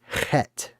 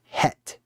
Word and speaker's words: chet: markers or boundaries, and the way you say that is chet, or het, or chet, if you want to pronounce it phonetically in English, because it's written C-H-E-T, right?